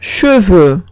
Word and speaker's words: cheveux: Última palabra, cheveux. Cheveux significa pelo. Y tengo una E y una U, se pronuncia como una E francesa larga, o sea, E.